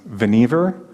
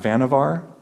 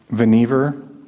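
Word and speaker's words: Vannevar: this talk remember that this guy's name was veniver not vanavar venever rhymes with achiever which he was he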